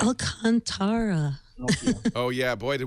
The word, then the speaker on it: Alcantara: Well, I know I was saying Alcantara at first. So it's Alcantara. Alcantara. Except that's not how I- Microsoft look, pronounced it in that I'm video.